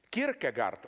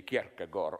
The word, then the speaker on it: Kierkegaard: Kierkegaard also was well aware of this, you know. I read in a biography of, how do you pronounce it correctly, Kierkegaard.